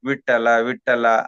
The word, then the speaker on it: ವಿಠ್ಠಲ: ಈ ಸಾತ್ವಿಕ ಸ್ಥಿತಿಗೆ ತರುತ್ತೆ ಇಲ್ಲಿ ಠ ಅಂತಕಂತದ್ದು ಮಹಾಪ್ರಾಣ ಆಗಬೇಕು ಮತ್ತೆ ಆ ಮಹಾಪ್ರಾಣದಲ್ಲಿ ಒತ್ತಕ್ಷರವು ಆಗಬೇಕು ಅಲ್ಪಪ್ರಾಣ ಆಗಬಾರದು ವಿಠ್ಠಲ ವಿಠ್ಠಲ ಅದು ಉಪಯೋಗ ಬರೋದಿಲ್ಲ ವಿಠ್ಠಲ